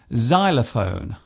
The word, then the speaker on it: xylophone: not a silent letter it often starts a word by being pronounced as Zed such as in xylophone and xenophobia this particular